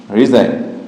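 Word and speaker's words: resign: নই আছে কিন্তু উচ্চারিত হয়নি এই থাকার কারণ উচ্চারণ হয়নি নকশা এরপর যদি আবার দেখি রিজাইন আর এসই রিজাইন রিজাইন অর্থ কি পদ করা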